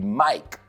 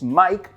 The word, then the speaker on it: mic: que se puede decir mic también, como el nombre Mike, pero no se escribe igual que Mike, se escribe M-I-C. Pero he oído gente decir Mic, no, es Mike porque es corto para microphone.